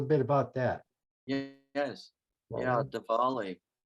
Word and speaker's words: Diwali: about that yes yeah Diwali spelled d-i-w-a-l-i or right sometimes you'll see variant spellings and um sometimes the W just like with Hawaii sometimes the W is pronounced with the V sound like Diwali so um Diwali is